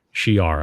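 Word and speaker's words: Shi'ar: if i'm saying right shi apostrophe ar she-r i believe is how you say it we've heard some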